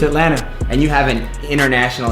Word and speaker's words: Atlanta: When it's spelled, it's like Atlanta. Right. But we don't say the T. It's Atlanta.